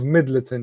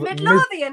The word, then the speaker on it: Midlothian: to play for was Heart of Midleton, yeah. That's number 1. Number 2, the best team he managed. I don't know. Heart of Midlothian, like heart.